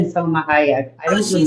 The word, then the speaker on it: Hayek: been Selma Hayek. I Oh, don't she said remember. it. My girl here in DC just said it, Salma. Well, how you Yeah, pronounce it? Hey, Selma Hayek.